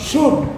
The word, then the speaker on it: PSEUD: Synonym, এই synonym কথাটা পুরো না লিখে আমাদের abbreviation form শুড, PSEUD, শুড, এর উচ্চারণটা শুড হবে।